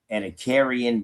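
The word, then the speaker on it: Ediacaran: Edacarian biota. Edacarian biota. That's the pronunciation.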